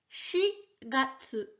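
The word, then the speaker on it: 四月: sur ce Candy Halo le mois d'avril quant à lui se prononce shigatte tous les mois en japonais se finissent en gâteau je te le dis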